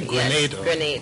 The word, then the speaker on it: Grenada: both ways wrong way you're saying it correctly grenade okay I'm so you go to their important